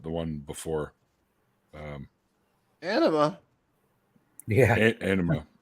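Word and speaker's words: Ænima: Anima. It's spelled A-E-N-I-M-A. Not enema. No, it just sounds like enema.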